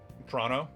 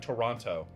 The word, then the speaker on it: Toronto: But I've heard that it's more like Toronto, right? I'm kind of rushing it a little, but it's real, Toronto.